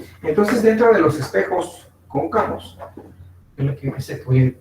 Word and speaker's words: cóncavo: Es un espejo cóncavo. Con acento en la O.